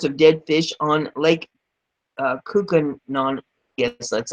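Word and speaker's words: Koocanusa: In late August of 2015, there were reports of dead fish on Lake Kookanon, yes, that's how it's pronounced.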